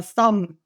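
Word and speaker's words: 썸: the abbreviation from something we call it some in Korean pronunciation like they're on a Thum like that Thum and you can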